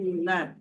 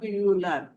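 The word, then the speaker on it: يُولَد: ইউলাদ, যদি আমি ইউলাদ পড়ি তাহলে তো ওয়াটা বাদ পড়ে গেল।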